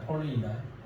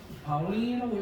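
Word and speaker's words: Pauling: 폴 폴링 이름 있다 폴링이 이걸 내가 우리 김봉건 김봉건 형님한테가 원건 형님이 내가 이걸 파울링이라고 읽었거든 예전에 파울이라고 읽었더니 본고 형님이 하울링이 아니라 폴링이 사람의 이름이라고 좀 이야기 했던 형 있습니다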